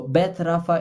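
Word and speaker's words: Beth Rapha: is called a Beth Rafa Cancer Foundation so Beth Rafa is spelled b e t h hyphen then Rafa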